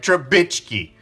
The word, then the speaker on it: Trubisky: Yeah, I said it right, Trubisky.